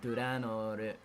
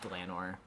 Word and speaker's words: Dlanor: I thought it was pronounced Delanor. I guess that's like sort of fair, but like I think it's just because like obviously like the Japanese pronunciation puts like the sound in the middle sort of, so it's like Duranor, but I think it's just kind of like just Delanor. is how I've always said it.